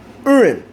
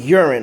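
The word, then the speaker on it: Urien: Urin from Street Fighter 3. I used to pronounce his name Urine, alright?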